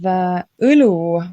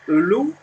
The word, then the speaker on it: õlu: So then we have õlu, which is a beer. So õlu. Can you pronounce?